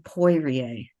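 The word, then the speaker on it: Poirier: published in 2021 by a scholar named John poier p o i r ier and it's called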